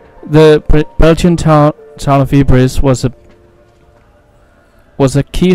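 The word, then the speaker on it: Ypres: a D wipers by British troops due to its difficult pronunciation the Belgian Town town of Eis was a was a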